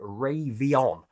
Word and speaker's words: Raiveon: got an email from a company called Raiveon, that's how they've asked me to pronounce it, who are the official UK partner of Padcaster Parrot Pro.